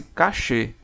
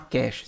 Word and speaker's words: cache: entra a memória Cash esse termo vem do francês cachê pronunciou-se cachê não é cast cast vem do inglês tá E esse termo francês significa escondido Mas você pode falar cast se quiser o bom é e